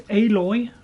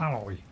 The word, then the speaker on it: Aloy: And don't forget, it's Aloy, not Alloy.